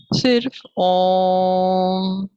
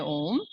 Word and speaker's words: ओम: वो ओम जो है वो 3 अक्षरों से बना है, अ उ और म। तो जब भी हम चांट करते हैं ओम तो क्या करना है हमको, ओ का जो उच्चारण है वह थोड़ा सा छोटा और म का जो उच्चारण है वो लंबा करना होता है।